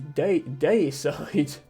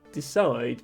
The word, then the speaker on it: deicide: Oh, and it's deicide. I thought that said decide, but it's actually deicide.